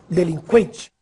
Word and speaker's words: delinquente: Agora preste atenção nestas palavras. Que, frequente, sequestro, delinquente. Agora sim, você ouviu o som da letra U.